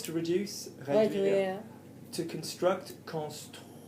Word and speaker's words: construire: To construct, construire. Say toi, say tweezers. Say tweezers. Tweezers. Construire. Construire. That's it.